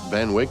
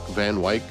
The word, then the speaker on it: Van Wyck: This week in 1900, the mayor of New York City, Robert Anderson Van Wyck, I think that's how you pronounce it, Van Wyck, Van Wyck, W-Y-C-K, breaks ground for a new underground rapid transit railroad that would link Manhattan and Brooklyn.